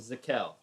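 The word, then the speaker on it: Z'kel: the player dag named zakel has an apostrophe it's z apostrophe kell two syllables easy enough works it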